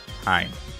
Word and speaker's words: Hein: So, with this episode, they get a mission to go and fight Hein. I think is how you say her name. Hein.